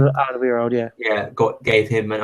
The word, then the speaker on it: Alderweireld: Alderweireld? Is that how you say his name? Alderweireld, yeah.